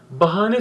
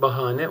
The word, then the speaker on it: bahane: halde bahane sözcüğü Türkçe Ben bunu okurken arkadaşlar ayı kısa söylemektedir Aslında telaffuz diksiyon hatası dır avuç su olsun beni avutabilir seneler onlar şarkısı var Sagopa kajmer'i orada çok da güzel bir şey ama bahane ifadesi bu şarkıda olduğu gibi yanlıştır bahane uzun söylenmek zorundadır